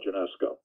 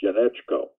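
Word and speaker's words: Janeczko: this tells you hello my name is Paul Jeunesse co it's a Polish name so in the old country it would be pronounced UNESCO but it is Jeunesse Co in America and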